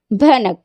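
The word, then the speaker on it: بھنک: तो इन दोनों में डिफरेंस आपको देख सकते हैं प्रोनाउंस करके, बहक, भनक। नेक्स्ट देखो, जहाज, झाड़, जहाज।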